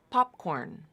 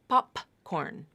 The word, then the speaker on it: popcorn: k all right and P is a stop consonant so what typically will happen is that stop consonant will be unreleased or held and then the K or whatever consonant comes next will be pronounced normally poporn popcorn popcorn it's not poporn poporn pop you don't have that full release you might have a small release popcorn pop just a little